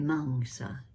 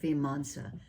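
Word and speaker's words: vīmaṃsā: The last base of power is the manga. V I m a msa. M A M in Pali is sounded like M A H N G Manga. The stress is on the second syllable.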